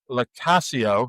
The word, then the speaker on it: LoCascio: So, of course, we got to talk to AJ LoCascio. That's how he said you pronounce his name, like Casio, the watch, but with Y on the front, who wrote a children's book called SPOOPS, The Little Spirits of Halloween.